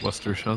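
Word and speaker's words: Worcestershire: It's pronounced Westershire sauce.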